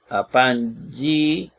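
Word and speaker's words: ἀπαγγείλατε: Dos gamas, se lee NG. Apangílate. Y luego dice Apangílate.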